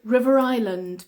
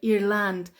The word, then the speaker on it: River Island: good um River okay River Island very good River Island uh some people thought it is Ireland like irland and I said no it's not Ireland it's Island Ireland the S is silent River Island River Island